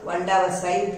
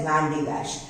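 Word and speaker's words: Vandavasi: The English were not able to pronounce Vandavasai properly, so they called it as Van de Wash.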